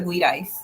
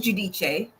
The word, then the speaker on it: Giudice: And like the one housewives that went to jail, Teresa Giudice. See, I say her name right. I say it Italian. So people like to say Teresa Giudice, but their name is Giudice.